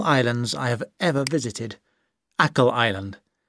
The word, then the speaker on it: Achill: It's built on one of the most beautiful islands I have ever visited, Achill Island. You say Achill, but it's spelt A-C-H-I-L-L.